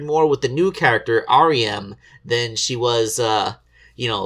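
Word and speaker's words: Ariem: And, her name is R.E.M. I mean, it's spelled A-R-I-E-M, but it's pronounced R-E-M, as in REM sleep, the portion of your sleep cycle where you're dreaming.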